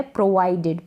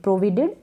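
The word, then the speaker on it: provided: प्रोवाइडेड का mean होता है प्रदान करना या प्रदान की बशर्ते या परंतु, यह है प्रोवाइडेड। प्रोविडेड ना पढ़ें इसको।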